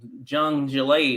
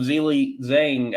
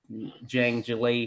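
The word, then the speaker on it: Zhang Zhilei: i've been calling him zang i know i would have gotten it right when i made the video autumn but yeah so it's not a z you're pronouncing it you're not pronouncing me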